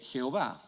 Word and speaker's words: Jehová: pronunciar el nombre entonces cuando un judío está leyendo esto él va a decir bayern a mal adonay porque se nota que las vocales de adonay están ahí adonay en la aiba el cristiano dice o así se pronuncia el nombre entonces el cristiano va y dice y agua y que entonces ese es el origen en realidad de jehova de ahí pasa al